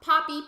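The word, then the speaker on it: Papi: I was talking about Poppy, P-A-P-I, the horse villager, and then P-O-P-P-Y, Poppy, the squirrel villager. They're just pronounced the exact same way.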